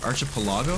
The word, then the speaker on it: archipelago: I used to say archipelago. It's pronounced archipelago, right? I'm not crazy. But yeah, me being a silly French taught 15-year-old, I said like archipelago. And I think I sometimes still say it that way on accident, which, you know.